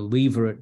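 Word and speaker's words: levirate: marriage the spell l-i-v-i-r-a-t-e Leverett as well how I would pronounce it but I'm told by the dictionaries leverage the lever at marriage and often when I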